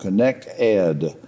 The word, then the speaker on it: Connect Ed: You emailed me something about a new program or a program called Connect Ed. I'm putting the emphasis on the last two letters.